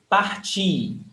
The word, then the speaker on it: parti: Então, parti. Pay attention when I say eu parti, the stressed syllable is ti, is the last one.